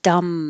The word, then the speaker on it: dumb: A deaf and dumb man. The B is silent, so you're really connecting the M.